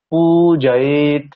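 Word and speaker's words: পূজয়ে: হ্রস্ব এটা আবার দীর্ঘ তাহলে পু বলার পরে জয়ে একসাথে বলতে হবে পুজয়ে পুজয়ে এই হচ্ছে ব্যাপার মানে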